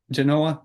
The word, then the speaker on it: Genova: Genova. Genova. Genova. Genova. Correct. No V, but it's pronounced like a V.